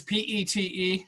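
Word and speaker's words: Piet: nitpicker but I just want to correct the pronunciation of Mondrian's first name is Pete okay like it was PE te you don't say the P it it's Pete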